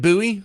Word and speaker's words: Bowie: We're going to start off with David Buoie. I know the English people like to pronounce it Bowie, but they're wrong.